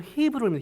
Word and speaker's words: 헤브론: 많이 알고 계시지만 이산지를 헤브론을 원래 발음으로 히브론 히브론 히브론 그렇게 기 원는 것이죠 약속의